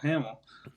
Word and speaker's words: Hamill: Yeah, Hamill.